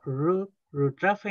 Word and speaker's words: rutrafe: Por otro lado tenemos ru trafe ñen. Recordar siempre la pronunciación. La u es una u como si fuera una i. Entonces decimos rutrafe.